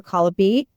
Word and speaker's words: Colopy: Her name is Amber Colopy.